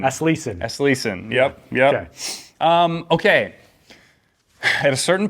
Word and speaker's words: Aslesen: into talking because I didn't know how to pronounce it. So I know it's Aslesen. Aslesen.